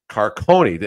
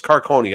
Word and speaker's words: Carcone: car it's not Caron it's carcone I believe coyot fans I'm sure a few of you are watching today feel free to drag me if I said that wrong I think they they pronounce it Carone he got the next